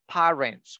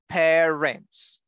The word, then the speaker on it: parents: Parents. Awesome. Excellent. So guys, remember, it is not parents. We don't say parents. We say parents.